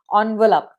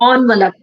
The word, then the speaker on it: envelope: Yes, and envelope, not envelope. Envelope.